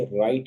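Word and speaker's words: write: कहते हैं राइट तो हम लोग ब्राइट नहीं कहते बल्कि राइट कहते हैं डब्लू की आवाज यहां साइलेंट है इसी तरह रंग नहीं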